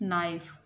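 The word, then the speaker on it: knife: Please give me this नाइफ. नाइफ में के और गिव में ई जो है ये साइलेंट है.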